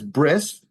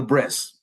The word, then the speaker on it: bris: next one down is bris um bris is again a Yiddish pronunciation remember like talit became Talis bris is the Yiddish pronunciation of breit breit means Covenant and